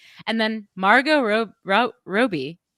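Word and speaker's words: Robbie: then Margo ro ro Roby I'm gonna pronounce it Roby because that's how Margot the real Margot Robi pronounces it she says I can't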